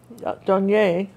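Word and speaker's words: Douanier: Well, I-E-R is pronounced Donier, right? I-E-R is A.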